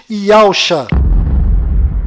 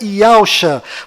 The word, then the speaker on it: Yahusha: A pronúncia do nome de Josué deve ser Yahushua, e a pronúncia do nome do Messias é certamente Yahusha.